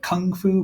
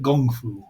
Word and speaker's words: gung fu: And he says it with a hard G sound. It's not quite kung fu, but gung fu, which is how Bruce always said it if you listen to his interviews.